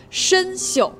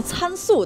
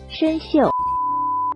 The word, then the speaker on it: 参宿: 大家注意我的发音啊，申宿。我还真见过有人把它读成参宿的，念错过的偷偷扣个一。今天学习的词语是参宿，参宿的发音是申宿。